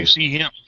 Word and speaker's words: QC Hemp: QC hemp. QC Hemp, is that how you say it? Yep. Sorry, called him a chimp.